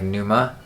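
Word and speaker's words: Pneuma: I like Tempest and I like Numa I believe is how you pronounce it but the rest of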